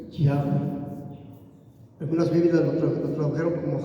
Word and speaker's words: Yahweh: La pronunciación en hebreo del nombre de Dios es Yahweh. Algunas Biblias lo tradujeron como Jehová, otras Biblias lo tradujeron como Yahvé, un poquito más cercano